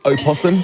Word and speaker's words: opossum: I checked on the game facts about it is opossum. So awesome. But the O is silent.